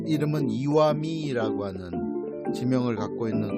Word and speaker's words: 石見: 석견 이렇게 써놓고 이와미라고 읽습니다.